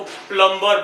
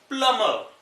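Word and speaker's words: plumber: हम इंडियंस क्या करते हैं, इसको प्लम्बर बोलते हैं, प्लम्बर। एक चीज देखिए, यहाँ पे बी साइलेंट है, इसको बोलेंगे प्लम्बर। और आर भी साइलेंट है, आगे आर के रूल में आपको पता चलेगा क्यों साइलेंट है। तो बी साइलेंट है यहाँ क्योंकि एम के बाद है।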